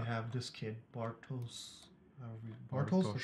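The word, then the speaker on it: Bartosz: Bartos, that's how you say it.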